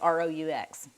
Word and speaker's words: roux: And we're just going to make a roux with this, which is spelled R-O-U-X. Not like kangaroo, but a roux as in a fat, a flour, and a liquid.